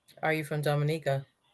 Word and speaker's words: Dominica: Pronounced Dominica.